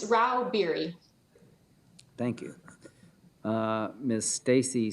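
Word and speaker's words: Rauh-Bieri: how do you say your name ma'am it's Ral beer thank you uh Miss Stacy Stags leral lobbyist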